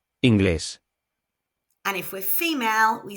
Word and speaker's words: inglés: And if we are male, we say English. And if we're female, we say has an accent. So the stress is placed where the accent is on the last syllable.